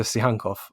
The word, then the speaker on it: Tsygankov: Not to say that any of the others are worth less my correct pronunciation, but am I getting it right with Viktor Tsygankov?